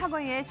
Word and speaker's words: Ragognete: Ragognete é o italiano, É o italiano, né? Eu sempre pergunto, então, eu gosto da pronúncia correta, então é o Ragognete, vamos dizer, né? @isadora.ragognete, como vocês estão vendo aí na tela, tem um G mudo.